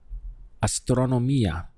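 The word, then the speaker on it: astronomía: going to be astronomy this in Spanish is astronomia let's look at the syllables we have aa strong or Mia astronomy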